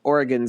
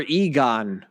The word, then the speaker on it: Oregon: ways to pronounce including the first I'm going to say which is what the fun quirky facts of Oregon site says is to pronounce the correct way Oregon number two or Egon apparently that's not the way to do it nope but who knows number